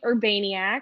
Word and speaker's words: Urbaniak: my first name e-m-i-l-y my last name urbaniac which i was really proud you did say